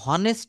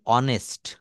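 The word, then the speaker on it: honest: এই অনেস্ট কথাটাকে আমরা কেউ কখনো হনেস্ট বলি না এইটা টা আমরা বরাবরই বলি অনেস্ট।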